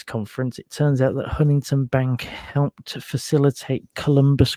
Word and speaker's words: Huntington: Stadium yeah Huntington for for those of you that that read it with a British inflection and think it should be pronounced Huntington um I've been reliably informed that apparently you miss out all the middle and it's uh simply Huntington Bank Stadium um obviously a lot